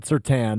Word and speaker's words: Surtain: Spelled like Surtain, said Surtain.